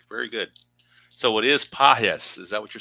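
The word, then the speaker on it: Pages: So, it is pahes. Is that what you're saying? It is pahes. The G is kind of like a soft G. Pahis.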